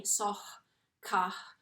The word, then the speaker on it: SOHCAHTOA: Let's try and say it like that with the H sounding a bit funny. Sohcahtoa.